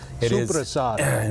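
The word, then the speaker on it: soppressata: Supersada. That's the correct Italian pronunciation.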